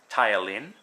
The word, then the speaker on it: ptyalin: The alpha amylase, which is the ptyalin, the P is silent, and that's amylase is an enzyme that will digest carbs, the starches.